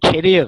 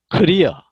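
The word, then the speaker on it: career: 독일 쪽은 캐리어 그래. 캐리어. 커리어. 영어 발음으로 커리어.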